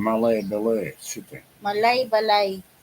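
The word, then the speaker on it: Malaybalay: Malay Balay. That's how you pronounce it.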